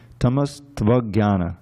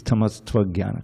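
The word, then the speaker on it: तमस्त्वज्ञान: You say tamas tvagyana, and you pronounce it's linked to the next word. Okay, not two. It's tamas tvagyana.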